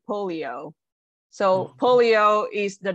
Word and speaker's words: polio: in this term so it's actually not holy it's actually polio so polio is the